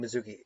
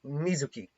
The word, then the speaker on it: Mizuki: in muki's plans obviously or I keep saying Mizuki it's Mizuki and there is a difference in how that's that's pronounced um but whatever not